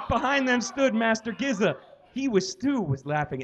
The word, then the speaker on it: Gizza: Rizza said something to Giza I it's giz but it's spelled Giza so Giza that Miranda